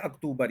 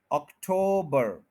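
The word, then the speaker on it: October: करें ठो ऑक्टो ऑक्टोबर टो टू नहीं अक्टूबर यह गलत है टू नहीं है यह टो है टो अक्टूबर अक्टूबर अक्टूबर होता क्या है अक्टूबर ये गलत है उ नहीं है ओ है ओ अटो अक्टूबर अक्टूबर अक्टूबर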